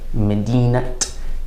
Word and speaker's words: مدينة: term in the idafa, we're going to pronounce the sound of the ta.